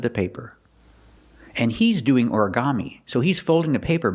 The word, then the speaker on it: origami: Put the stress on the first syllable and the third syllable.